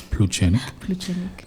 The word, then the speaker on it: Pluchenik: So Pluchenik, I keep saying Pluchenik so that we all learn how to pronounce it. It's Pluchenik.